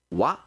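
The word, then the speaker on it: は: Toda vez que a gente vê um substantivo e logo depois essa partícula que se pronuncia wa, quer dizer que tudo antes dela é sujeito, né?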